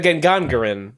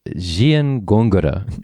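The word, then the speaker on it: Gengangere: The Gengangaren. It's actually Giengongura. Oh. But it's spelled Gengangaren if you're pronouncing it like an English person would.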